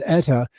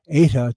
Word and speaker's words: Eta: south this is honduras as etta eta depending on how your annunciation pronunciation goes it delivered an incredible